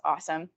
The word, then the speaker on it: ASEM: um which are um asem is we pronounce awesome couldn't tell you what